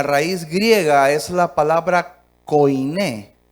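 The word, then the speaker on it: koiné: griega es la palabra Coin Coin con k o i n y acento en la e Coin Qué significa portador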